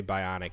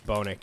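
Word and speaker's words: BOINC: I always mispronounce this. I always say Bionic, and it's not right. Bonic? Bonic, yeah.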